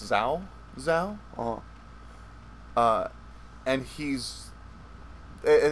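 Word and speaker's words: Cao Cao: out of it were cow cow who is it's really pronounced zao zao oh uh and he's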